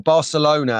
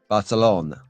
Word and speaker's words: Barcelona: Or Barcelona, as most people around the world call it. You have to pronunciate that in the C, like Valencia, Barcelona.